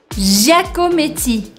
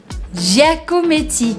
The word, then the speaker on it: Giacometti: Giacometti. Giacometti. Então, de novo, a gente tem que fazer bem sotaquinho francês com a sílaba forte no final.